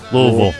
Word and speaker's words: Louisville: How you say it? Louisville. You got to swallow it. Louisville. I said Louisville. Or Louisville. Definitely not Louisville. That's only if they disrespect you.